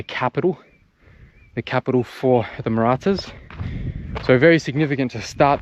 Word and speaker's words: Marathas: It's spelt M-A-R-A-T-H. So it's like Marathas, but Marathas, that's how you say it.